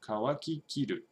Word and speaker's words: 乾ききる: So kawaki kiru. So after this kiru, it drops down in accent.